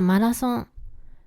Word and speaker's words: マラソン: While "マ," "ラ," and "ン" match the romanized spelling, the "th" sound doesn't exist in Japanese.